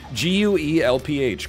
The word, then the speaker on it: Guelph: It's spelled like it's pronounced. G-U-E-L-P-H, Guelph.